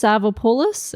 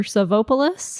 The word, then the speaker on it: Savopoulos: And it could be pronounced Savopoulos or Savopoulos. Or Savopoulos.